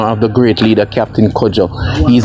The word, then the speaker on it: Kojo: on this monument jessie k o j o r c u d j o the k o j o is the african way of pronouncing kojo and the c u